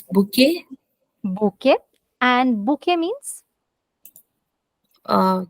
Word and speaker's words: bouquet: bunch of flowers exactly bouquet a bunch of flowers now everyone notice Suman did not pronounce the last letter she didn't say bouquet which is how we speak most of our English let words okay this word is